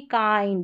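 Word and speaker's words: kind: ये ग्रिंड नहीं ग्राइंड, किंड नहीं काइंड, ये विल्ड नहीं वाइल्ड,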